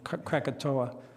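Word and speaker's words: Krakatoa: is called Cato C it's pronounced different ways I'll pronounce it the American catoa um one of the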